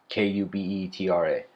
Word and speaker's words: Kubetra: This world of ours is called Cubetra, spelled with a K. Kubetra.